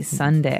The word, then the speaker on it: sundae: as you can see the word is pronounced exactly like the day Sunday uh but it has a different spelling in the end s u n d a e Sunday right so this is